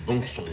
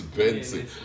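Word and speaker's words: BNXN: The first day I saw the name, I was like, how do we pronounce this? Is this Bongson or what? Like Bongson. But later I got to know that it's Benson.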